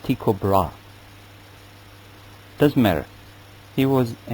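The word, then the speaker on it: Tycho Brahe: history of astronomy is Tao brah a Danish professor and in our University by name of inab book tells me that actually it should be pronounced tiob bra doesn't matter he was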